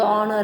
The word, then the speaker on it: honour: Pronunciation is द HONOUR, बट the spelling बघा, spelling कसं आहे, HONOUR आहे, बट प्रनाऊन्सिएशन त्याचा उच्चार जो आहे तो ऑनर आहे.